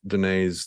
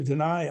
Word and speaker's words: Danay: Sheila's end to say, like, rhymes with pie. My name rhymes with pie.